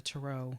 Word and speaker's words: tarot: to our hearts it's the Tarot or some people pronounce at the turo turo turo very fancy whatever you prefer whatever you prefer but